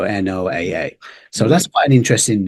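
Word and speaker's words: NOAA: space of course so instead I just said the letter so n o AA so that's quite an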